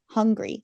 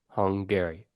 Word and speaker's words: Hungary: yeah just 16 is Hungary Hungary hungry how do you say it hungry you think about a guy named Gary he's really hung hung Hungary Hungary okay uh number 15